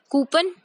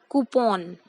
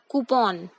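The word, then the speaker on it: coupon: Next, जो अब हमें वर्ड दिख रहा है स्क्रीन पर, इसको क्या कहेंगे? कूपन? ये गलत प्रोनाउंसिएशन है। वी से इट एज कूपन। I repeat, कूपन।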